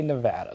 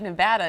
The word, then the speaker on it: Nevada: Oregon, it was like, no, it's Nevada. You got to say Nevada. So sorry. So it sounds like Nevada is the right way to say it, if I heard you correctly.